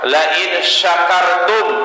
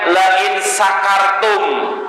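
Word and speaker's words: لَئِنْ شَكَرْتُمْ: Atau juga firman Allah Subhanahu wa taala, la in syakartum la azidannakum. Jika engkau bersyukur, maka akan aku tambah nikmat kepada kalian. Ada orang bacanya la in sakartum pakai sin kecil, artinya itu bukan bersyukur lagi.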